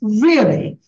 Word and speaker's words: really: now the word yeah the word really many people speak this way different different voice really really this this is wrong actually it's really really and you have to give a stress here also so it'll be like this disturb me really now again you see